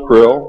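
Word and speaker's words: Krll: His name and title was his omnipotent highness krill, pronounced krill, spelled k r l or c r l.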